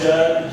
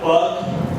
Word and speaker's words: Judd: J U D D Sounds simple once I spell and pronounce it for you but every time I give my name for an order I seem to get a butchered rendition of my name I get Jude alot. I got bugg once and uhh and Jugg a container.